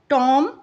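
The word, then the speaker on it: tomb: इन the words given below, the letter B is silent when it appears with M, और यहाँ पर letter B जो है वो साइलेंट हो जाता है जब वो एम के बाद आता है।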